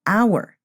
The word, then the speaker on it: hour: your we say an hour we don't say a hour because the H is silent and we pronounce like